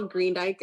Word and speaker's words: Greendyke: Hello, my name is Greendyke. I've been nominated by my parents, Gail and Spencer Greendyke. Green, like the color, D as in David, Y-K-E is how you spell it.